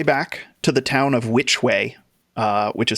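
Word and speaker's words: Wytch Way: on your way back to the town of which way uh which is spelled w-y-t-c-h way it's a wit which way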